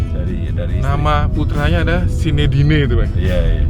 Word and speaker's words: Zinedine: Nama putranya ada Sinedine itu Pak. Iya. Bacanya gimana itu Pak? Sinedin itu sebenarnya kan bahasa umumnya kalau di kita Zainuddin sebenarnya.